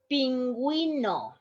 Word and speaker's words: pingüino: In this case, you have to pronounce the U.